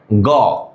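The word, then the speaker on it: go: গ। তাহলে গ হবে উচ্চারণটা গ। তাহলে এখানে কিন্তু গ না, এখানে ও সাউন্ড হয়েছে গো।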